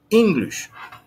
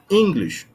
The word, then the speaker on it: English: English, English, English, English. مش English، مش English. ليه؟ لأن الاسترس على المقطع الأول.